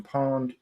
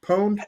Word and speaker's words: pwned: like have i been pawned or pwned how do you pronounce that again is it pwned have i been pwned okay i've been